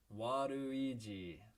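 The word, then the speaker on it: ワルイージ: this and that well his name is waduiji and remember how in japanese the l and r sounds are both represented by the rue hiragana or katakana so waduiji is sort of a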